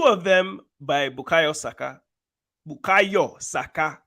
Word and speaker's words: Bukayo Saka: Bukayo Saka. That's how you say it, not Saka.